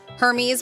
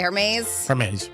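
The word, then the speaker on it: Hermès: It held up traffic on Wednesday as the Hermes, what do you say, Hermes? Hermes. I know some people are like, you got to pronounce the H, because some people just say Hermes, whatever. Hermes.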